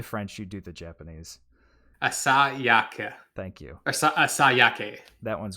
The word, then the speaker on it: Asayake: Do you want me to pronounce it? Yes, please. I do the French, you do the Japanese. Asayake.